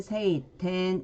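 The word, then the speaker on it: 晴天: 천지일 때는 텐지, 텐, 그리고 청천 할 때는 세이텐 이렇게 읽어줍니다.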